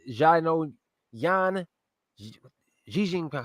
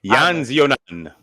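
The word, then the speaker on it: Yan Xiaonan: Jessica Andrade versus Yan Jijing. How do you say it? Yan Zionan.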